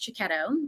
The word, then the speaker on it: Cecchetto: My last name is pronounced Cecchetto. It's Italian.